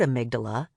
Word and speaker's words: amygdala: In fact, the word amygdala, pronounced amygdala, comes from the Greek word for almond.